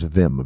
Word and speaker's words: Vim: Wait, Vin Mercy? Nope. His name is Vim, V-I-M. What's his last name? Agiri. It's spelled Aguirre, Aguyurre.